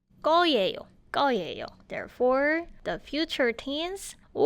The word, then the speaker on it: 거예요: 을, and then little spacing there, and then you need to finish your sentence with 거예요, but mind the pronunciation, it's 거예요.